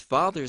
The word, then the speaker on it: father's: Now, with father's side, father's is actually a Z sound at the end.